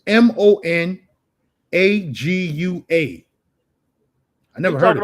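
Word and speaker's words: Managua: Monoguil? I can't pronounce that. In the jungles of Bloomfield, nice spot. It's quiet. Amazon women up in that joint. So it's Monagua.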